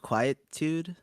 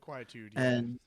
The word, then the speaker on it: Quietude: Quietitude. Is that how you say it? Quietude. Which is underrated with only 52 views.